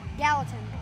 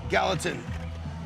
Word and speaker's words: Gallatin: Gallatin. Gallatin.